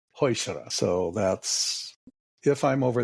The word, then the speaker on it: Heuchera: I'm sure you have, I've heard Heuchera, Heuchera, Heuchera, every which way. You hit the one that's my button. Yes. There is no chair in it.